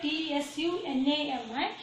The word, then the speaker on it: tsunami: As you see here, tsunami is the starting letter is the T, where we used to write T-S-U-N-A-M-I, but we pronounce it as only tsunami. Here T is silent.